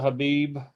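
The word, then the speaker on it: Khabib: I pulled a Habib. I think that's how you say his name. The K silent.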